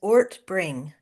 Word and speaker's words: Ortbring: Give me the correct pronunciation of your last name, please. Good morning. It's Ortbring.